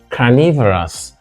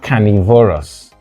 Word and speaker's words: carnivorous: And of course, if we have herbivorous here, we have carnivorous. Animals that eat flesh, or organisms that eat flesh, are carnivorous, not carnivorous.